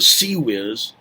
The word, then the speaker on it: CIWS: number I can't remember also called the SE whiz which is spelled ciws which means close in